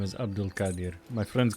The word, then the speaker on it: Abdul-Qadir: Abdul nice to meet you both he can pronounce his last name cuz I can my name is Abdul Kadir my friends call me Abdul or